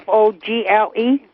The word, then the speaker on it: Fogle: with who is it his name is james and i can't pronounce his last name but it's f f-o-g-l-e fogle yes vogel yes sir james fogel and